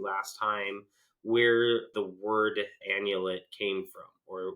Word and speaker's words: annulet: I trademarked it the word itself the word annulet it's spelled a n n u l e t